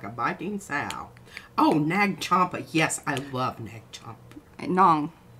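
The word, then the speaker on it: Nag Champa: Oh, Nag Chompa. Yes, I love Nag Chompa. Nong. Nom. Nom? Not Nom. Nag.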